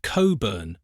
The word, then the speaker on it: Cockburn: But don't be misled by the spelling. It's pronounced Cobburn, much to the confusion and amusement of visitors.